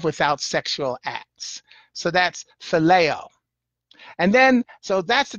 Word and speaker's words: phileo: and his spell ph IL io + + pronounced phileo the greeks defined this kind of love as